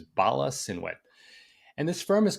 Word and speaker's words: Bala Cynwyd: I might be pronouncing this wrong. Cynwyd. I'm pretty sure it's Bala Cynwyd.